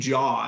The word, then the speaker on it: J.A.: have to be named Jaw, and I don't know if Jaw Busak would go over well. Wow. Name him after J.A. Hatt. Ooh, that's a good point. But actually, he pronounces it J.